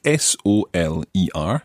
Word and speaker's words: soler: and this is a very interesting verb indeed it's spelled s-o-l-e-r Soler Soler that's right we'll talk about first